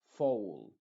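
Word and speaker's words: foal: Por ejemplo, foul. Olvídate de la A, recuerda que esta es completamente muda.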